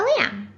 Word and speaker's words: lamb: It's just like thumb. It has a silent B at the end. The silent B sound is when the B is not pronounced after an M at the end of a word.